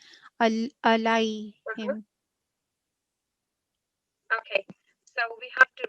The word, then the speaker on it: عليهم: This is haruf leen because the preceding letter has got fatha. And this is ya sakin, so it is pronounced for 2 seconds, but it is a soft elongation. Alayhim.